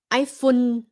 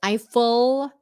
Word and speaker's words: Eiffel: Không phải là iPhone. I think that's the way Vietnamese normally say is iPhone because they see the L and they turn it into an N.